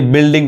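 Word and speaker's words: building: क्या बोलते हैं बिस्कुट बोलते हैं यहां देखिए बिल्डिंग पढ़ाए यानी यू नहीं पढ़ाए यहां देखिए गेस्ट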